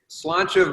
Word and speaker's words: Sláinte: about this, and how the hell do you pronounce the name? Yeah, so I guess let's conquer the name first. So it's Sláinte Va.